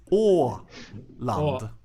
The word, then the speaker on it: Åland: Oland. Orland. Yeah, that's pretty good. You, Mano? Oland. Alan. Oland. Alan. It's Åland.